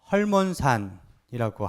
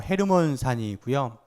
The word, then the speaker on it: 헤르몬: 학자들은이 산을 헐몬산이라고 합니다. 요즘 표기 바 발음으로 헤르몬산이고요.